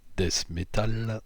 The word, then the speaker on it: death metal: de death metal d'ailleurs que je prononcerai un peu plus à la française dorenavant des métal et plus exactement de death metal français